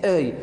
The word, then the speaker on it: œil: Donc là, vous prononcez œil.